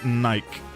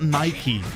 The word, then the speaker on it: Nike: It's Adidas and Nike. Pummer is Pummer, not Puma. Come on. It's not Nike. Stop it. It's Nike.